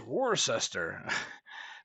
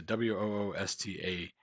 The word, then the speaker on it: Worcester: they they're you know it's either Wista people will say you know that's how you say it or there's actually a place out there called rooster Pizza w-o-oosta Worcester Pizza so yeah we all